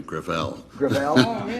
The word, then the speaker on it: Gravel: ed within my family Gravelle it's a French name thank you I want